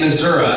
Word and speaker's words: Missouri: and then laugh uh I was made in Missoura anybody else that is how you pronounce it it is uh it's